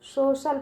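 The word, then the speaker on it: social: तो सी का उच्चारण बच्चों श निकलेगा, ठीक है। तो इसको क्या पढ़ेंगे? सोशल पढ़ेंगे, ठीक है।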